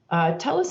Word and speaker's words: Telus: and marketing them yeah so it's telus international tell us tell us no worries uh we we get it in a few different ways but telus international has really grown